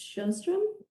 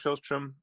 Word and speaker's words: Sjostrom: It looks like the next commenter is Sjostrom. You're unmuted. Pronunciation on a state call I've ever heard. Well done. So thank you. Yes, Sjostrom, Minnesota Milk Producers Association, and I appreciate Denise's comments earlier.